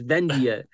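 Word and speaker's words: Vendhya: and it was wrong and I call V venad and I'm like no it's vendia but you know look man that's just something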